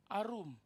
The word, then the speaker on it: arum: kata naked itu sama hanya dibacanya Arum Jadi kalau manusia keduanya telanjang namanya arom cerdik namanya Arum lihat ya arom Arum jangan kebalik kalau nasi habis direbus